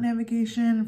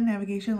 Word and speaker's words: NVGTN: I might feel about navigation for those of you who don't know they spell it Envy gtn navigation like the word but without any of the vowels so yeah let's get